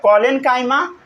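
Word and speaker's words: collenchyma: पढ़ना पहले सीखिए, प्रोनाउंसिएशन करना सीखिए। पैरेन्काइमा, साथ साथ बोलिए पैरेन्काइमा, पैरेन्काइमा, फिर बोलिए कोलेनकाइमा, कोलेनकाइमा, फिर बोलिए स्क्लेरेनकाइमा, स्क्लेरेनकाइमा, स्क्लेरेनकाइमा, समझ गए।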